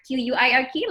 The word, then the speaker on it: Qwork: Qwork, yeah, like the English word Quirk, like quirky.